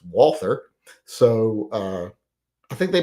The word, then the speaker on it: Walther: little uh Walter clones or Walter as people like to say but I say don't say that because we won the War so we decide how letters are pronounced uh and it's Walther so uh I think